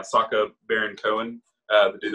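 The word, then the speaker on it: Sacha: then he also got always mispronounced this dude's name it's uh sako versus yeah saka baron cohen uh the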